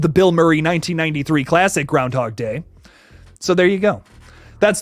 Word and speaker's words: Groundhog Day: for Groundhog Day which it is Groundhog Day not Groundhog's Day I been saying it wrong my entire life ladies and gentlemen but